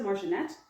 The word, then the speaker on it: Marginet: the video I think I pronounced her name incorrectly it's Melissa Marinette and she has a